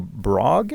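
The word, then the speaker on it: Brough: game from I think his name is pronounced er Michael brog actually mm-hmm I don't know it doesn't seem like it would be but I think that might be as name is pronounced he spelled BR ough yeah ER ugh do you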